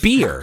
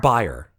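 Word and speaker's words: bier: It's actually I think it's pronounced beer, not buyer.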